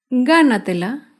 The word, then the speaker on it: gánatela: Gánatela se acentúa en la sílaba anterior a la antepenúltima sílaba.